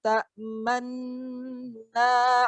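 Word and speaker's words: تَأْمَنَّا: Karena asli lafaznya la ta'manuna. Namun nunnya disembunyikan, diganti dengan isyarat mencucukan. Bacanya seperti ini. Qalu ya abana ma laka la ta'manna ala Yusuf wa inna lahu lanasihun.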